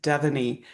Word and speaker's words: Devoney: And my first name is Devoney. My Oh, parents could have given me one to pronounce easily. You know what I'm saying? I've had a tough road that way. Devoney. Okay. Devoney.